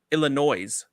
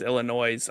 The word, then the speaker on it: Illinois: Great Lakes region of Illinois, Jake Parry. What's going on? I was doing really good until you added the S to Illinois.